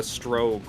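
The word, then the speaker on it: Strogg: This is the campaign against the Strogue or the Strog. They can ever they always flip-flop on pronunciation.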